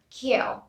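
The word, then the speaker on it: queue: word is q q-u-a-u-e it's q here the other ua is not pronounced we only produce pronounce this word q q moving on to choir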